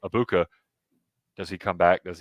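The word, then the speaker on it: Egbuka: Abuka.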